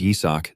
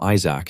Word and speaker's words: Yisak: Even though his name is Yisak, these guys always pronounce it wrong and call him Isaac instead.